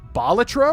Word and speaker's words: Balatro: Otherwise, I've done everything in Balatro, or as apparently it's pronounced Bolatro or something like Batro is not how you're supposed to pronounce it.